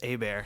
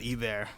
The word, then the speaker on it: Hebert: Well, the big secret is that the last name's Hebert, not Hebert.